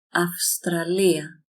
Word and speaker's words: Αυστραλία: Here is the combination of it is because it is before sigma that does not make the coco vibrate. Αυστραλία.